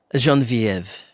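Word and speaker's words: Geneviève: Um well, if you're going to pretend to be French, at least say my name properly. Jean Vivv.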